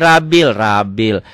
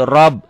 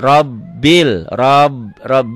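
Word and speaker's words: رَبِّ: Bacanya alhamdulillahi rabil. Ini R itu kalau berbaris fathah ganti dengan O. Jadi alhamdulillahi rob. B-nya 2. Robbil. B-nya ini robbil.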